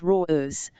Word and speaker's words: Raz: His eyes sharp as the marine leaned von var, watching Raz, he pronounced it raw-ers, shrugged.